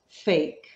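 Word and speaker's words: PHEIC: emergency of international concern, which, by the way, is pronounced fake.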